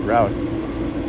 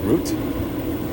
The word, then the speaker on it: route: might be like a oh definitely an American yeah definitely with the American pronunciation I'm pretty sure it's like route uh and maybe in British pronunciation it's like root so it could be like a difference you know that way but